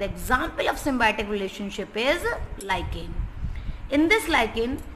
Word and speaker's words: lichen: Actual में बहुत सारे बच्चे इसको लिचेन बोलते हैं. The pronunciation is not correct. You will use the word लाइकेन. इट इज अ लाइकेन.